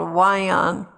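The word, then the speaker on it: WION: afraid recently we discovered news from india called wyon that is spelled w-i-o-n that represents some very relevant topics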